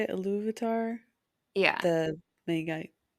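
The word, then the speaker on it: Ilúvatar: Or Iluvatar, is that how you say it? Iluvatar?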